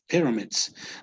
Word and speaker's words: pyramids: Pyramids. Notice in Pyramids. Spanish would be the sílaba tónica, right? So it in Spanish would be pirámides, right? In English would be pyramids.